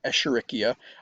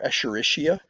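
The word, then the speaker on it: Escherichia: And yes, that's a bugger of a genus name, Echericia or Echericia. Um, could pronounce it either way.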